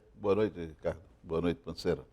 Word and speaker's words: Panceira: O correto é Panceira, mas o carioca colocou um acento no E e começou a falar Pancera.